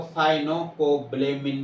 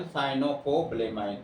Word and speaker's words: साइनोकोबैलेमाइन: 19-20 हो सकता है, तो कई जगह आपको साइनोकोबैलेमिन भी मिल जाएगा, लेकिन जैसे नाम उच्चारण पड़ेगा साइनोकोबैलेमाइन कहा जाता है इसको।